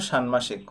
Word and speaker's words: ষাণ্মাসিক: শ্রেণীর জন্য সানমাসিক ও বার্ষিক পাঠ্যসূচি এটি সঠিক উচ্চারণ হলো সানমাসিক অনেক শিক্ষকদেরও বলতে শুনেছে এটা সানমাসিক উচ্চারণ করে